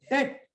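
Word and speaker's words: debt: डेट कर्जा होता है य बी साइलेंट होता है डेप नहीं पढ़ते डेट B silent डेट डेट बोले तो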